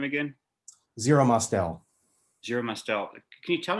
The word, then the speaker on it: Zero Mostel: How do you pronounce his name again? Zero Mostel.